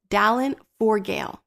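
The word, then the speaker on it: Dallán Forgaill: to pronounce this, but I believe his name is pronounced Dallin Forgale, and he was blind, which makes the words "God Be My Eyes" so much more powerful.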